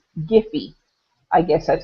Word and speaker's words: Giphy: This is another little website, and it's called Giphy.